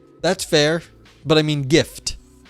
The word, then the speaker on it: GIF: spelled NRE but pronounced GIF I am firmly on the GIF side of things hard G in uh the graphics